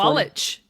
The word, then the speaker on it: Sawalich: Will you pronounce it for me? Sawalich.